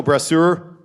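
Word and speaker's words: Brasseur: out of out of order here uh Michael brur pronouncing correctly oh very good um he is uh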